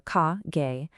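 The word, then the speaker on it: 下: Then on the right, we have the exact opposite below under its anomi readings are ka gay and its kunomi readings are shita oru sageru.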